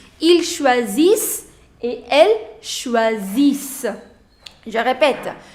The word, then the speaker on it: choisissent: Ils choisissent. Remember, you don't have to pronounce ENT. Ils choisissent et elles choisissent.